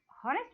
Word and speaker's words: honest: So H is silent here in every word before, though it starts with H, but it sounds like vowel, not H is silent here, not with the consonant.